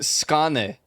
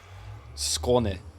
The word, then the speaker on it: Skåne: What about the Skane? You hate Skane? Skane? Skane? Skan? That letter is pronounced O. Skån. There we go. And then you gotta emphasize the E at the end. Skåne.